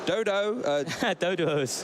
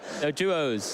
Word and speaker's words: Doduo: Dodos. How do you pronounce that again? Doduos.